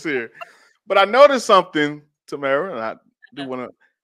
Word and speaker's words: Tamara: So my name is Tamara. I pronounce my handle Just Live Mara.